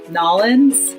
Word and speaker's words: New Orleans: And similarly, New Orleans in Louisiana, they all pronounce Nolens, Louisiana.